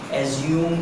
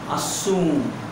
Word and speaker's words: assume: ये वर्ड आपने सुना होगा जिसे आप बचपन से कहते हुए आ रहे हैं एज्यूम एज्यूम एज्यूम एज्यूम. That is not called by एज्यूम. That is असूम.